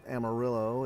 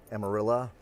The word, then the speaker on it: Amarillo: One other interesting thing about Amarillo is that it's actually amarillo, the Spanish for yellow. My son, who is in first year Spanish, made that note to me on our way down that I was saying it wrong. It was actually amarillo, but obviously folks down here say Amarillo or Amarilla.